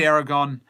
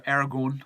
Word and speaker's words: Aragorn: like old soldiers and Aragon it's so Aragorn I got taught off for this recent thing you're not saying it right Aragorn is a hermit